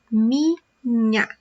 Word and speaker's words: minha: We also learned that the sound of these letters together are nha, so minha.